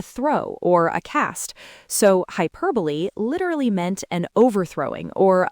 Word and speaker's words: hyperbole: Again, with the stress on the second syllable. Hyperbole.